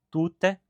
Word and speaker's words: tute: Em materiais didáticos, a sílaba tônica pode, por vezes, ser sublinhada, assim permitindo que se diferencie, por exemplo, tute, pessoa de tuté, mulher.